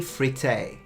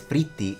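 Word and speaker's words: fritti: here alfredo crispy zucchini fritte calamari frite what's with fritte like I don't get it usually it's friti or zucchini calamari friti means fried I don't know why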